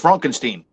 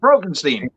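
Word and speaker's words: Fronkensteen: meets dr frankenstein frankenstein it's frankenstein you're putting me on no it's pronounced brogenstein she also which i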